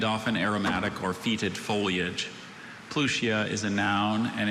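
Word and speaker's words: Pluchea: Plutia.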